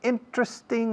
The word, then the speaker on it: interesting: There are several interesting ideas. Interesting también son 3 sílabas en vez de 4. No interesting, aunque se diga por ahí. Hay gente que dice interesting, pero la mayoría decimos interesting.